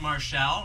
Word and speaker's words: Marshall: We have tonight Don Lynch and Ken Marshall, rhymes with pal, and James Cameron.